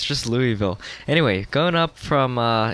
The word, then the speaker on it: Louisville: 350 from uh indy to uh louis of louiseville lewisville um butchering the pronunciation of course now i gotta know how you hype now louisville okay it's just louisville anyway going up from uh indy to kentucky